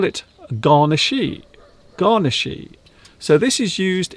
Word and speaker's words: garnishee: You pronounce this garnishy. Garnishy.